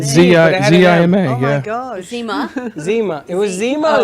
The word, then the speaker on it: Zima: Zima. Zima. It was Zima Oh, or okay. Zena?